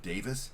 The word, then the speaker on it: Davies: I'm assuming that we're using what I believe to be relatively standard British pronunciation of Davis here.